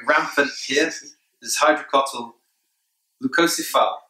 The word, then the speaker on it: Leucocephala: Leucocephala, that's how I say it. Other people pronounce it differently.